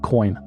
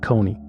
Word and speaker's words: Kony: Ugandans pronounce it Joseph Kony, not Kony, as evidenced in this video